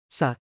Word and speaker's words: ศาสตร์: ศาสตร์ 사학처럼 발음.